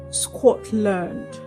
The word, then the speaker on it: Scotland: However, the L A N D in these words is not pronounced as land. The letter A in that word land takes the uh uh the schwa sound. So we go learned learned and not land.